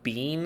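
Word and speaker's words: Biehn: weaver back but like michael bean i think is how b-i-e-h-n i think that's how you say it hicks we're just going to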